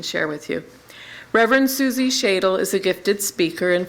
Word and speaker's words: Schadle: And in the meantime, we have Reverend Suzi Schadle, that is how she pronounces it, who's come from Florida.